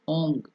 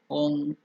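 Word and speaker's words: ॐ: Some parts of India they will use the nasal word, so they will go to do it as Ong. Om. So that's not the right thing, because Om has the three aspect A, U, Ma. Om. So it has to end with Ma.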